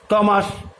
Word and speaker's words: Thomas: টমাস, THOMAS, টমাস, এখানে কিন্তু এইচ এর উচ্চারণ থাকছে না।